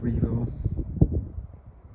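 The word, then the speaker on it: Jervaulx: Revo Abbey starts with the letter J, so it's spelled Jervo, pronounced Revo.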